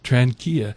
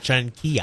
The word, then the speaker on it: Tranchina: Tranchina. Tranchina. It's spelled like China. China. But it's Tranchina.